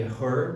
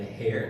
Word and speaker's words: her: Cuidado com a pronúncia. Aqui é her. Não é hair, não é cabelo, né?